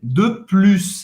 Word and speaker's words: de plus: De plus. Dessa vez você vai pronunciar o S no final, no sentido de mais, ok?